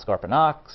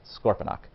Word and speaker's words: Scorponok: So it's not Scorponox, it's not Scorponic, it's Scorponok.